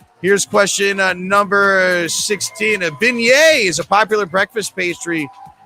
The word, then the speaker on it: beignet: 100 percent social ladies and gentlemen beignet yes that's how it's said all right regan no pants uh our first or second kente's still in third here's question 17.